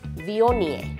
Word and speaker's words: Viognier: It's not Viognier, the G again is silent, it's Viognier.